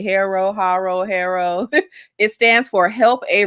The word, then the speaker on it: HARO: Is it called Harpo? Girl, no. Haro. There's no P. The P is silent. It's Haro.